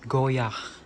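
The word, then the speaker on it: Goyard: So ito, ang pagbigkas dito is goyak. Hindi binibigkas yung D.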